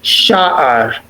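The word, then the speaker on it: שער: Sha'ar. Let me hear a firm accent on the first syllable. Sha'ar.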